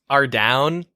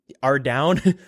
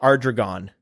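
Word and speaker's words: Ardougne: Ardown. Ardown. For the longest time, I used to call it Arregon, which is not even close to how you pronounce that word.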